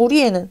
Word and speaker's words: 우리의: 조사의 같은 경우에는 두 가지로 발음이 가능하다. 첫 번째, 의로 발음하는 것이 원칙. 두 번째, 에로 발음하는 것이 허용이다. 됐죠? 자, 그럼 우리애는 두 가지를 어떻게 발음을 할 수가 있겠어?